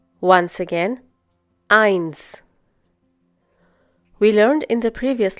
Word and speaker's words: eins: But, whenever the letter S occurs at the end of a German word or after the last vowel within that word, it is pronounced as an English S.